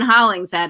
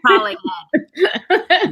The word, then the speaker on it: Hollingshead: It's not Megan Hollingshead. It's Megan Hollingshead.